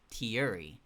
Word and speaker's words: Chiyuri: There's also Chiyuri, whose name is spelled Tiyuri, Chiyuri.